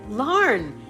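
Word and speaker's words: Larne: Yes, the E is silent, named after the city in Northern Ireland. Got it, Larn.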